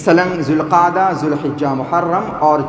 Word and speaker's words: ذو القعدہ: ذو القعدہ ذو الحجہ، دیکھیں اصل تلفظ اصل پروناؤنسیشن ان مہینوں کا یہ ہے، ذو القعدہ ذو الحجہ۔ ہمارے یہاں الگ الگ بولتے ہیں ذی قعدہ، ذی القعدہ، ذی الحج، تو اصل یہ ہے۔ اللہ کے نبی نے